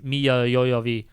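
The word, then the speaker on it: Milla Jovovich: this is yeah and then as soon as miya yoyovi as soon as she shows up yeah that's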